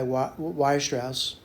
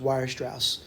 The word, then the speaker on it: Weierstrass: Now, let me just talk a little bit about this guy, Weierstrass, right?